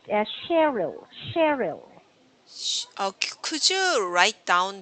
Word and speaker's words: Cheryl: but usually this is pronounced as Cheryl. Cheryl. Could you write down the pronunciation symbols? Okay, hold. So Uh-huh. so Cheryl. Cheryl. Yes, Mm, Cheryl, not Cheryl. The stress is Cheryl. usually at the start.